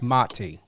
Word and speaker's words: Mati: before we went live it's very important to know how to pronunciate and and I get it you know sometimes you don't correct but it's mati yes yes um even